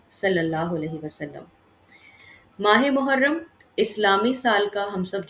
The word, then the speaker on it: محرم: عظمت والا ہے۔ ٹھیک، محرم کا جو تلفظ ہے وہ محرم ہے، یعنی میم مضموم ہے، ہا مفتوح ہے اور را مشدد ہے۔ ٹھیک، محرم کی جمع